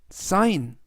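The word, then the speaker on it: sign: 뜻은 설계하다라는 뜻이 되겠습니다 이번에도 역시 들어 있요는 우리말로 아인 그래서 전체적인 발음은 사 사인 사인이라고 발음하시면 되겠습니다 품사는 동사 뜻은 서명하다라는 뜻이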